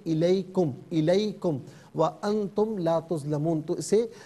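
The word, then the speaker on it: عليكم: کر نہیں پڑھیں گے۔ علیکم نہیں، یہ الیکم، وَأَنْتُمْ لَا تُظْلَمُونَ۔ تو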